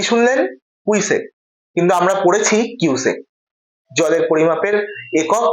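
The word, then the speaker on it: cusec: কুইসেক কিন্তু আমরা পড়েছি কিউসেক জলের পরিমাপের একক বা তরল পদার্থের পরিমাপের একক কিন্তু কিউসেক আর উনি বললেন কুইসেক আমার এখানেই প্রশ্ন যে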